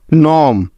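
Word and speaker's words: gnome: এফ ও আর ই আই জি N foreign নম এন ও এম ই নম align এ এল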